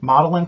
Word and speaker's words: Magdalen: feature a few including modeling college which is somewhat confusing as it is spelled magdalen and that college's alumni